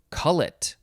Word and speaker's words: cullet: spelled c-o-l-a under calendar calendar wee next is call it so yeah we had we had call it before but this one is spelled c u l l e t noun